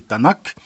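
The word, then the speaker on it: Tanakh: En français, ça peut se prononcer Tanac.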